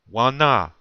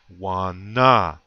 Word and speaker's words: Wana: And you say it like this. Listen to how I say it very closely and where I have the accent or the emphasis. Wana.